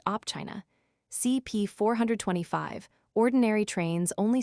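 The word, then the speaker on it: Opčina: From the S station of Opchina, pronounced Opchina, CP 425, ordinary trains only stop here, directly in a half HR.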